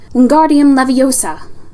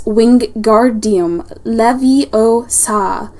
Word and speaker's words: Wingardium Leviosa: "Wingardium Leviosa," he shouted, waving his long arm like a windmill. "You're saying it wrong." Harry heard Hermione snap. "It's Wingardium Leviosa. Make the gar nice and long."